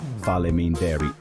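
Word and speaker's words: Faleminderit: Fal mean dairy for thank you. Po which is pronounced po means yes and Joe pronounced yo means no.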